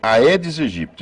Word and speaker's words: Aedes aegypti: caso da febre amarela originalmente o chamou de e aedes aegypti e assim a pronúncia correta é essa é uma pronúncia que